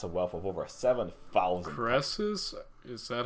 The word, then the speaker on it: Crassus: Crassus? Is that how it's pronounced?